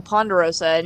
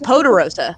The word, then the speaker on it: Poderosa: I kept calling her, Ponderosa. No, it's just Poderosa. It's Poderosa.